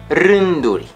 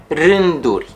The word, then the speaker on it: rânduri: The letter R is rolled or trilled. For example, rânduri, rânduri, rows.